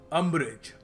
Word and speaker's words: umbrage: अम्ब्रेज, ठीक है, UMBRAGE। इसको प्रोनाउंसिएशन जो है इसकी याद रखना, अम्ब्रेज। लोग इसको पता नहीं कुछ और ही कह देते हैं।